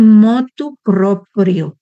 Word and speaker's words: motu proprio: Está el motu proprio, así se pronuncia.